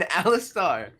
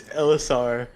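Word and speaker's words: Alastair: there is no tea there is no tea in Alistar that is the wrong bronzo and I knew it I'm sorry what is the correct pronunciation it's LSR like bronzo is saying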